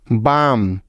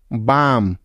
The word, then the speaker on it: balm: Next, M এর আগে এল সাইলেন্টের কিছু উদাহরণ, যেমন কাম, CALM, কাম, পাম, PALM, পাম, বাম, BALM, বাম। এখানকার প্রতিটি শব্দেও এল এর পরে এম আছে, তাই এখানে এলটি সাইলেন্ট রয়েছে।